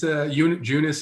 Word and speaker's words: Junis: He's Junis, excuse me.